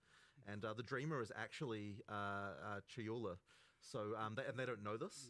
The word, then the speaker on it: Chayula: The acolyte of is it Chalula? Chayula. I always say this wrong.